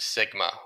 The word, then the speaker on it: sigma: for standard deviation and it's pronounced Sigma or a lowercase Sigma you may remember that